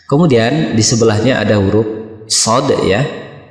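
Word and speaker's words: ص: Kemudian di sebelahnya ada huruf shad ya. Cara membacanya seperti ini, shad. Nah, 3 ayunan atau 6 harokat. Shad. Bukan kita baca so ya, atau dibaca cepat sod, tapi dibaca panjang 3 ayunan, dan huruf terakhirnya di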